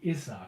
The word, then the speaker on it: Izzard: Eddie, spelled like it sounds, and Izzard with Z's. I-Z-Z-A-R-D. Izzard.